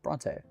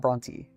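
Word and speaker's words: Brontë: know technically because of the way I've written her name it should be pronounced the other way it should be pronounced Bronte not Bronty ultimately you could say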